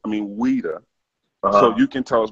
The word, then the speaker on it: Ouidah: We're just gonna deal with the place you said was Ouidah, correct? Am I pronouncing it like the people there pronounce it?